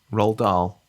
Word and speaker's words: Roald Dahl: given my track record are you saying it roll Dahl that's right okay sorry it sounded